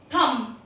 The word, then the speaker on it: thumb: THUMB, थम, इसको हम थंब नहीं पढ़ते हैं, थम पढ़ते हैं।